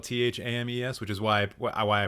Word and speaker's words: Thames: be a very good host oh the River Thames right right right there's a baseball player called Eric tames which is spelled t-h-a-m-e-s which is why why I pronounce it tames